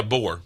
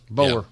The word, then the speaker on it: Boer: And then, is it just pronounced Boer goat? Yeah, boar. Boer.